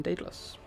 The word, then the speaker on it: Daedalus: And then we are going to jump over Raptor and go down to Baron, El Halcone, Flying Taco, Lucas, and then Daedalus. I'm pronouncing it correctly, yes.